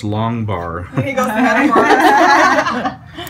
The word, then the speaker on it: Matamoros: You have to say it right, Matamoros.